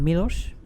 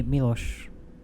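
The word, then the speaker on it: Miloš: i get it yeah am i saying his name wrong is it mirosh you've been saying wrong all this time he's probably gonna kill me now that you're doing that but milos to me milosh he was always inspiring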